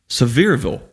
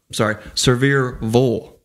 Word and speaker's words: Sevierville: You know, Sevierville. Sevierville. Sevierville. Wow. Sevierville, Tennessee.